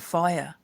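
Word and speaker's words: whaea: I just call it FIRE, which is Māori for auntie, but it's not spelt with a F. We don't have F in the Māori alphabet.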